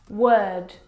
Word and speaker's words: word: Now, you're probably mispronouncing these words because you are looking at the O R and you're trying to pronounce the vowel sound o like in door. But this is incorrect. The vowel sound is actually as in her.